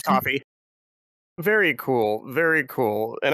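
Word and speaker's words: Ko-fi: So it's actually on my coffee so it's How do you pronounce the coffee the k o f i is coffee right? Yeah yeah it's coffee.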